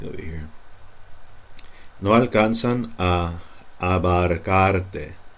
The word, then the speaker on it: abarcarte: No alcanzan a abarcarte. See how those A's? Abarcar. And then an E. Te. Abarcarte. It's not abarcarte. Abarcarte.